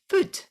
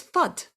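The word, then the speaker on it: Füd: it would say so on the can the letters are f you with an umlaut and d now how that is supposed to be pronounced is food how that pronounces reassurance and how that pronounces in my head every time i look at it it's fud no that just makes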